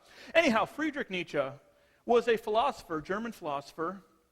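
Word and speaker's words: Nietzsche: this name before or at least the German mispronounced as they most people call him nii however if you are reading the German properly it's ncha anyhow Friedrich Nicha was a philosopher German philosopher about the mid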